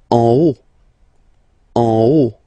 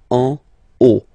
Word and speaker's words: en haut: En haut, okay. Final T not pronounced, and then this H as previously, you don't pronounce it. So this is O, en haut, en haut, en haut.